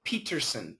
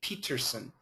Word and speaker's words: Peterson: my name I say Peterson Peterson I pronounce the T um and sometimes I